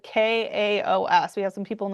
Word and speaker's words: Kaos: Um, yes, it's called Chaos. It's spelled K AOS.